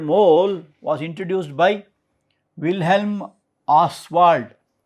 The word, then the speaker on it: Ostwald: So, in this word mole was introduced by Wilhelm Ostwald. T is silent there, Ostwald.